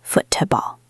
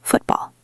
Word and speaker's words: football: We don't usually say foot to ball. We say football.